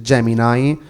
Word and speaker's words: Gemini: ha provato a venderci la sua Gemini che in realtà si legge Gemini che è la sua